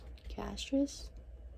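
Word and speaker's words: cassia: beam simum coconut and castris if I'm saying it right it's c a SS I a warming it with my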